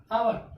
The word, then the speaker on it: hour: इसमें वर्ड के शुरू में क्या है, H आया और O के पहले भी है, H क्या हो गया, साइलेंट हो गया। ठीक, तो आवर, आवर means HOUR, आवर, आवर means क्या होता है, घंटा।